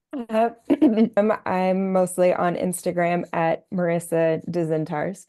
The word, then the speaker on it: Marisa Dzintars: I'm mostly on Instagram at Marisa Dzintars, phonetically Marisad, as in David, Z as in zebra,